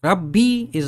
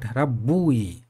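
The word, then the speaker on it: رَبِّ: difficult to spell difficult RAB B is very easy to pronounce this is RAB B not rabbu it is rabbi to make it easier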